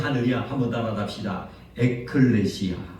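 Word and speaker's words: ἐκκλησία: 받은 공동체라는 것은이 교회라는 것은 이제 헬라어로 어떻게 발음을 하느냐 한번 따라합시다 에클레시아 에클레시아 다시 한번 에클레시아 에클레시아이 에클레시아라는 것은 교회를 상징하는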